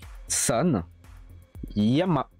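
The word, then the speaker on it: 山: Alors lui c'est San Yama.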